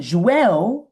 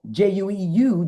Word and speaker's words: jueu: And Jueu, J-U-E-U, Jueu, is how you say Jew in Catalan.